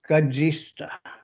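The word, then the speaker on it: katsihsta: And that word is Gajista. And it's spelled K-A-T-S-I-H-S-T-A.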